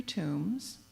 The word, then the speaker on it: tomb: known to contain 63 tombs and I want you to think about this word tomb notice how the word sounds like the word womb not by chance I'm